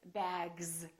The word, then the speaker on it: bags: This S, we don't say bags, we say bags. So the S is pronounced like a Z in some very common words.